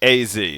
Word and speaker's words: AZ: AZ. So, it is pronounced as two separate things.